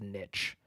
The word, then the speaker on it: niche: most Americans go Niche Google said in the US is commonly pronounced Niche to rhyme with Witch uh whereas in the